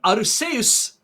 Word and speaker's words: Arceus: and i don't know game freak comes up with all the pokemon and all the pokemon names and aruse is how it's pronounced i don't care i'm calling it arceus i don't really that's